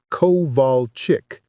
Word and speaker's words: Kowalczyk: "It's pronounced coval chick, sir," she said quietly, her voice steady despite the flush creeping up her neck like watercolor paint bleeding across canvas. "It means blacksmith in Polish.